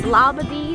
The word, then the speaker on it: Labadee: How's it pronounced? Labadee, Labadee.